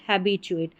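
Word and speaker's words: habituate: हैबचुएट।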